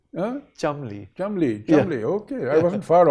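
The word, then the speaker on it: Cholmondeley: i don't know chummy apparently it's pronounced chumley chum chumley chubby okay i wasn't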